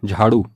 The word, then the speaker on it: झाड़ू: कर देते हैं तो जो ड है ड के नीचे नुक्ता लगेगा होगा ड़ और इसका उच्चारण होगा झाड़ू अगली वर्तनी है मेढक